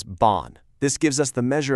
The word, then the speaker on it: 半: The second one here is bon.